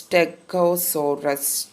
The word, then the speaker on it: Stegosaurus: Let's see how it's pronounced. It's Stegosaurus.